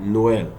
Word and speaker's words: Noël: Look at the example, Noël. We pronounce the O different, but the E different. Noël.